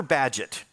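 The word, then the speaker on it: Bagehot: Great Britain and Walter badgett and by the way you you won't get his name by thinking about it it's b-a-g-e-h-o-t it takes the English to pronounce that badget Walter badgett and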